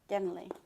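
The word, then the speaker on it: Genly: So they can't pronounce the L. That's interesting. Genley.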